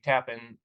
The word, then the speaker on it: Tappen: it wrong to in tap in uh do you know the Tap and Z bridge in New York just like oh I'm saying it right good good you be